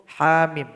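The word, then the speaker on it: حم: Berikut uraian dari huruf ha mim. Ha kalau diurai ada alif di belakangnya. Mim ada mim sukun di belakangnya.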